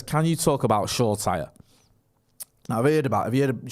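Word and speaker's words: Shoretire: used to talk about Shoulder Shaw Tyre, and everyone used to be in the comments telling us, "You're pronouncing it wrong. It's Shaw Tyre."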